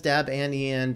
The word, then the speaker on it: Debian: people yell at me for the way I pronounce Debian okay yes it is Deb and Ian based upon you know God that created it